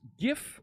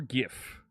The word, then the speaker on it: GIF: How's it pronounced? GIF or GIF? When I was a student in college in the 90s, on the East Coast here, we called them GIF. Once I started talking to folks on the Pacific Coast, they convinced me it was GIF. I switched to GIF in the early 2000s.